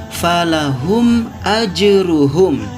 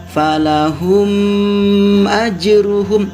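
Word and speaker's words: فَلَهُمْ أَجْرُهُمْ: Seperti contoh lafad falahum ajruhum. Nah, di situ ada mim mati bertemu dengan huruf alif. Tidak boleh kita membacanya panjang seperti ini. Falahum ajruhum, itu tidak boleh.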